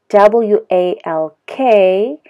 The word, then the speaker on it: walk: So my mouth is not protruding, not like that, protruding, okay? But if I say work, work, my mouth, you know, protrudes a little bit, okay? Pronouncing the R sound, R, work, okay? So again, that's walk and work, a little bit different.